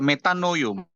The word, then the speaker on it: metanoia: Lihat, kata bertobatlah itu dalam bahasa Yunani menggunakan kata metanoia atau metanoio bacanya.